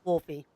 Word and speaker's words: Wolfie: It's Wolfie with an E. No way. Can I call you Wolfie? Absolutely not. The E is silent, obviously.